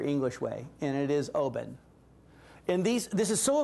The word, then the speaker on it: Oban: by the Scots because I've always said Oban and I said well Stuart how do you say it he said Oben I said oh really